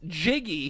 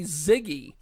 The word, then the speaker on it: Jiggy: Asian male and he never could pronounce Jiggy he always called me Ziggy and uh so you